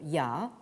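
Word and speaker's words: 亚: vous avez ici sur la diapositive, qui se prononce en chinois moderne, mais peu importe, ya.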